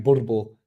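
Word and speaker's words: Boerboel: how do you pronounce bbul the dog yeah South African bbul that's how you pronounce it you roll the RS off Recons um Nick I'm long on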